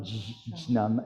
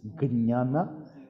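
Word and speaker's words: jñāna: Even the J is a G if it's before a consonant. Like in Gnana, Gnosis, JN. It's not Jnana, it's Gnana.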